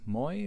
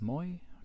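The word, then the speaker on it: μοι: with a vowel and to fit the meter here we're going to pronounce Moy count Moy as short so again that Epsilon there is short so that Moy that normally long diphthong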